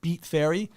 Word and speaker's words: Beat Fairy: events promotion company called beat fairy uh and that's spelled b-e-a-t f-a-i-r-y beat fair because somebody was like is it like beats i'm like no it's like b-e-t no not beats i beat fairy dot